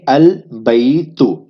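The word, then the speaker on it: البيت: القمریجہ میں سے ہے۔ جب قمری حرف آ جائے الف لام کے بعد تو الف لام ادا ہوگا، تو اس کے تلفظ کیا بنیں گے؟ البیت، ٹھیک ہے؟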